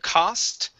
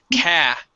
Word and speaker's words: cast: Instead of cost, it is cast.